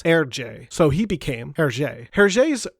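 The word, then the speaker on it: Hergé: you pronounce his initials his initials in reverse would be r g in French you would pronounce this herj so he became her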